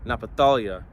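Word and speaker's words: Naphtali: Reuben okay now we're going to naphthali Nepal napatalia meaning that's how you say it in Hebrew means my wrestling all right and um Genesis 49 verse 21.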